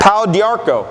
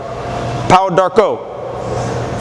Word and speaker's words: Pau d'Arco: Pau d'Arco. Pau d'Arco. French pronunciation.